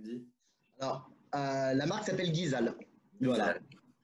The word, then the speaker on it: GeeZal: La marque qu'on appelle, comment tu le prononces, comment tu le dis? Alors, la marque s'appelle Guizal. Voilà. Guizal qui vient, c'est une association de noms de famille.